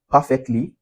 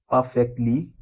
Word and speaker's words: perfectly: Another one is um perfectly perfectly Okay? Writing this, we have per fect ly All right? So, we have the stress syllable here, fect.